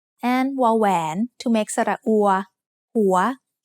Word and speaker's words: หัว: วอแหวน to make สระอัว หัว หัว is said with a rising tone because it has a high-class initial consonant with a live syllable ending.